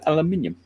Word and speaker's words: aluminium: And he says, Fox, can you use C1 metallizer over Alclad 2 polished aluminium? Aluminium. Aluminum. I don't know where in the world he's from. So we can pronounce that one because he spelt it the correct way as aluminium.